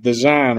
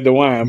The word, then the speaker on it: Dejan: So it's Dejan, right? Dejan, yeah. I always say Dewan, but it's Dejan.